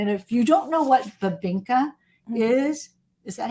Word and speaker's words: Bibingka: And if you don't know what Babinka is that how you say it? Yeah, Bibinka.